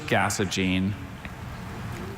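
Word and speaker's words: gasogene: Are there any other pronunciations? Just gasene.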